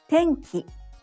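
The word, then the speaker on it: 天気: Tenki, weather. Tenki, tenki. Te is high. Each n and ki is low.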